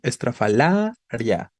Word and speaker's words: estrafalaria: la cuestión García no estrafalaria no su sílaba tónica es la penúltima por eso es grave pero recuerda que las